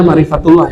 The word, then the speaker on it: makrifatullah: Makrifatullah atau makrifat Allah. Bacanya makrifatullah ya.